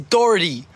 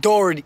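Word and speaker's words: Doherty: dhy Jack dhy dhy it's dhy not Jack Dory not Jack dhy learn how to say his name weirdo you don't talk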